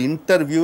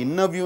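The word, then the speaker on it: interview: For example, இன்டர்வியூ என்று சொல்கிறோம், அதை இன்னர்வியூ என்று சொல்ல வேண்டும்.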